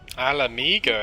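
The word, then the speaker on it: Ala Mhigo: Alamigo, that's how you say it.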